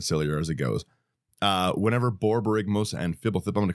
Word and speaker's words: Borborygmos: Borborygmos, yeah. Yep. It's 2, 1 green, 1 blue, 1 red for a 6/5 Cyclops homunculus. And it just gets sillier and sillier as it goes. Whenever Borborygmos and Fibblethip, I'm going to call it Bobby